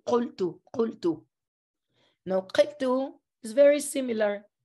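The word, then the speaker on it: qultu: Arabic, you say "qaltu, qaltu." Now "qaltu" is very similar. You keep the "qa" in the beginning, the consonant, you still pronounce it like in literary Arabic, and also the suffix too.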